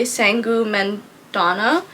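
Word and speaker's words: Sangu Mandanna: the very secret society of irregular Witches by sangu menana that's how you say her name so this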